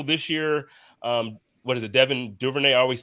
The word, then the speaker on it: Devin Duvernay: I know this year, what is it, Devin Duvernay?